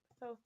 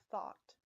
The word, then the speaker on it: Thoth: Thoth is so cool. And yes, it's pronounced thoth, not thought.